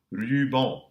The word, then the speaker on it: ruban: Final AN also has a post-vocalic N, which is silent. Ruban.